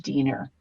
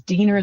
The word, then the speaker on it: Diener: the film it says Diener Mm. the Wiener is back. So that we all know how to pronounce his name. It's like Diener rhymes with Yeah, Wiener.